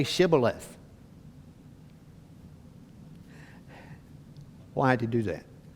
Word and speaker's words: Shibboleth: Because of their accent, because of the way they talk, they didn't have a way of pronouncing this, so they would say it Sibboleth instead of Shibboleth.